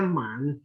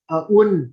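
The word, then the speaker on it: 文: Kemudian kalau Kanton, sepertinya membacanya Man. Ya, kemudian kalau Hokkien, nah kebetulan saya orang Hokkien, saya tahu dia biasanya dibaca un ya atau bun ya.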